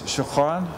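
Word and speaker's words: شكراً: Well, in Arabic, it's shukran. Shukran. In Dari, it's tashakur. Shakur. And then in Urdu, it's shukuriya.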